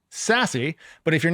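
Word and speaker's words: SASE: Now, this involves an acronym called SAS E, which is pronounced Sassy.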